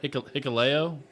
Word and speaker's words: Hikuleo: Hikuleo.